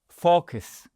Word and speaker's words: focus: Focus et pas Non, si vous le prononcez mal, ça pourrait être une insulte. Je vais pas le faire. Focus, on ouvre bien la bouche, focus, ? Sinon vous allez prononcer une insulte.